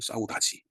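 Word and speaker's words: saudade: 한 물어봤습니다 카톡 를 뭐라고 읽냐 그랬더니 싸우 다지라고 읽는다 그 사우다지 그래서 영어로 보면은 싸우 다된데 포 포르투칼은 사우 다지라고 있는 말입니다 그서 그 뜻이 뭐냐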